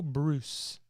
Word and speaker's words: Breus: I think it's pronounced Dr. Michael Bruce, even though it's spelled Breus.